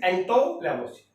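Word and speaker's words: Antoine Lavoisier: अगर exactly pronounce करें तो दैट इज एंटो लेवोसियर।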